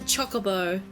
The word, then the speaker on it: Chocobo: that they're pronounced at Chocobo I don't like it it's Chocobo not chocolate they're not made of chocolate it can't be helped